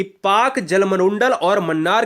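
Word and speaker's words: Palk: पाकिस्तान वाला नहीं है यह पाक जलसंधि पीए एल के को हम पाक कहते हैं ठीक है ना इसमें ल साइलेंट होता है मैक मोहन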